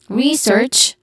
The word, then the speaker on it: research: Research, re is a stressed syllable which has a long e sound, and then search.